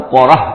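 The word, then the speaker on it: Korah: قوم ہی سے تھا۔ تورات میں اس کا نام قورہ آیا ہے، یعنی قارون کے بجائے قورہ، یہ کوئی تلفظ کا فرق ہو سکتا ہے۔ فبغى علیہم، اگرچہ موسیٰ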